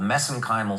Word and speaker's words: mesenchymal: But so anyway, I get criticized for that, but that's that's a little bit of an Irish accent on my part.